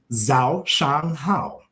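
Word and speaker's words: 早上好: Zhao Shang Hao. Zhao Chang Hao. There you go. Zhao Shang Hao. Spell that for me so I can write it down.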